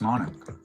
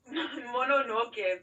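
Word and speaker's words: Mononoke: I believe you've made lots lots of comments about Princess Monarch. Monoke, first of all.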